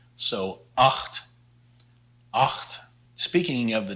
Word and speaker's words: acht: The CH here is pronounced a lot like the Dutch G, so acht, acht.